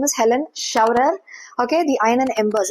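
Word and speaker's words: Scheuerer: I need to check how to pronounce sher like saying cher. Huh? Starting with the sh sound.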